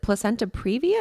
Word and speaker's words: placenta previa: I was reading about um what is it placenta previa is that how you pronounce it yes yes how we do did